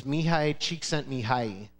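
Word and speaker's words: Mihaly Csikszentmihalyi: California and his name is really hard to pronounce but I'm going to try it it's mihai cheek sent me high if I showed you how to spell the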